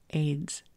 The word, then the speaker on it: Ayds: AIDS weight loss candy. It's spelled AYDS.